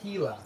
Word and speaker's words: Gila: yellow monsters i don't sell those and it's pronounced gila i hate that there's pronouncing i always get